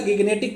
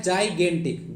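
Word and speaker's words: gigantic: तो इसका सही जो प्रोनाउंसिएशन होता है वो होता है जाइजेंटिक। क्या होता है? जाइगेंटिक, जाइजेंटिक नहीं, जाइगेंटिक। तो जाइगेंटिक होता है, ठीक है ना। तो इसको आपसे गाइगेंटिक मत पढ़िएगा, जाइगेंटिक होता है, जाइगेंटिक।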